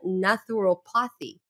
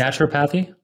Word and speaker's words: naturopathy: machine learning and even natural pothy I don't know if I'm pronouncing it well but it's naturopathy yes that's right sorry my accent doesn't